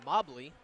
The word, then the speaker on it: Mobley: call a foul on mobley not mowgli pardon me dr vapes